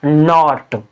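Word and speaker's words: knot: के बाद क्या है एन तो एन के साइलेंट रहेगा अब इसको हम पढ़ देंगे इसको हम कैसे पढ़ते हैं नॉट अब के एन यानी यहां पे भी के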